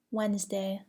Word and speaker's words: Wednesday: Do not pronounce the D in the following words: adjective, adjust, handkerchief, handsome, sandwich, Wednesday.